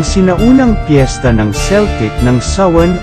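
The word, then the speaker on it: Samhain: mga kultura ang sinaunang piyesta ng celtic ng sawen o s ang pronunciation ang mga kelt ay isang pangkat etniko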